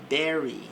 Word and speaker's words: bury: E nós temos agora o verbo berry. Então é justamente essa pronúncia. Berry. They will bury.